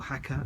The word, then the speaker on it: Jaca: Then we rode from Bilbao to Jaca, or Jaca as it's pronounced.